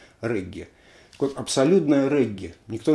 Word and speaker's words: регги: это в чистом виде регги, или реггей, как правильно говорить, но мы привыкли регги.